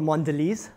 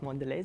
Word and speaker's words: Mondelez: I work for Mondelez. That's how it's pronounced. It's not Mondelez, it's not Mondelez.